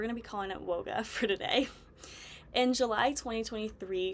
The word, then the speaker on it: WOGA: at woga in Texas I've heard some people pronounce it as w GA like the abbreviation um but we're going to be calling it woga for today in July 2023 she confirmed on